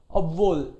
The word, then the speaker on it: obwohl: H comes in the middle, H is silent. Obwohl.